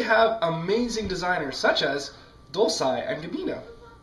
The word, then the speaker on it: Dolce & Gabbana: They have amazing designers such as Dolce & Gabbana. It's Dolce & Gabbana.